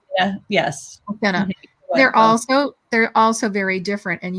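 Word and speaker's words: Mathinna: Do you pronounce it Mathena? Yeah, Mathena. Yes. Mathena.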